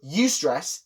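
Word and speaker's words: eustress: So ustress, eu stress. So eu is just the prefix for good. So like utopia for example, although that's spelled with a u and not eu.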